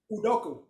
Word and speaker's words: Udoka: Can you pronounce his name? Udoka, or something like that, right? Udoka. Yeah, Udoka.